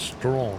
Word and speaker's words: Strachan: You have Strachan, which is pronounced Strawn in Scotland.